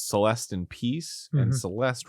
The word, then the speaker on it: Celeste: Celeste in peace and Celeste rhymes with rest so it's like rest in peace cuz she died oh